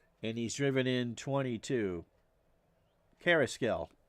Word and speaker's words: Carrasquel: Carrasquel. Don't pronounce the Q.